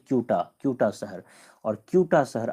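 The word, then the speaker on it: Ceuta: जो ऊपर में शहर है इसका नाम है कूटा सी यूटी ए कूटा कूटा शहर और कूटा शहर आता है स्पेन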